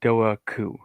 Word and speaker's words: Dobhar-chú: Gary Gary from Irish Aquatic Monsters told me it was Dobhar-chú.